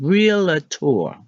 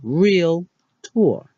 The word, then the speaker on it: realtor: it's okay seven realtor what we've been saying is real at or I know I said that how to actually say it is real tour this is another victim